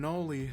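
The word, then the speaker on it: Knoli: And I'm Noli, the K is silent, and this is SCP Weekly.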